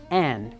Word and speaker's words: une: bien de parler de la prononciation Anne, comme Anne de ses sœurs. Tu sais, on pourrait rentrer dans une grande discussion ici sur la nasalisation en Louisiane, la dénasalisation, la relation entre l'écrit et l'oral et tout ça. Mais pour aujourd'hui, on va tout simplement dire que un et N sont les prononciations louisianaises de l'article indéfini.